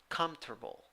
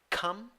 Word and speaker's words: comfortable: First way, comfortable, comfortable, no P, no F. Second way, comfortable, comfortable, comfortable. Third way, comfortable, comfortable, comfortable. Nice.